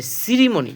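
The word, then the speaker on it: ceremony: দেখেন সিই আর ই এম ও এন আই, সিরিমনি, এখানে সির উচ্চারণ দন্তস্ব, কারণ আমরা বলেছি যে সি এর পরে ই থাকলে সির উচ্চারণ কী হবে, দন্তস্ব হবে।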